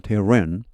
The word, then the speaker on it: Tehran: Saudi Arabia blamed on Tehran. H가 발음이 납니다.